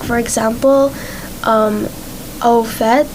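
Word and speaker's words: au fait: and words of origin like for example um au phet it's from france and it's spelled a-u-f-a-i-t and people who don't know that it's from france may think it's our fate but it's actually pronounced outfit and what does it mean i can't recall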